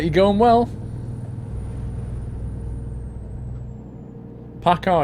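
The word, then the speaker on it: PACCAR: like you're going well Paka is spelled p a c c a r Paka they're the company that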